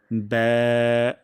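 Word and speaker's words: ب: এবং এখানে একটা ভুল হয়ে যায়। অনেকে আমরা বলে ফেলি বা, বয়কার বা, বাংলার মতন উচ্চারণ করে ফেলি। যেহেতু এটি পাতলা হরফ, তাই উচ্চারণের প্রথম অংশ ব্যা এভাবে উচ্চারণ হবে।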